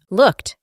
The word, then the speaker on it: looked: Y el pasado de este verbo es looked. Como hicimos anteriormente, la doble O se reemplaza por U, y la ed del final tiene la pronunciación de una T. Looked.